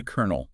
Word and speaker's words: colonel: The Colonel. Ah, yes. You see, it's spelled C O L O N E L, but then you say colonel.